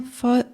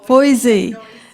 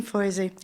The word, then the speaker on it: Boise: your last name Christine Fosse Fosse Boise like noisy Boise so please come up hi I'm Christine Boise and wow what great